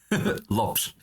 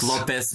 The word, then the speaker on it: Lopes: lops yes lops lops I say not Lopez not Lopez okay I I actually this is a Swedish Thing I actually uh pronounce it the way I read it as a Lopes okay lops yes yes